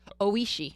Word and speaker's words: Oishi: Oh, how do you say it again? Oishi. Oishi. All right.